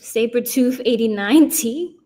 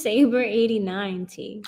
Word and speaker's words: Saber 89T: Sabretooth 89T? What is it? How you say it? It's just Saber 89T. Oh, my fault. I thought I heard Sabretooth.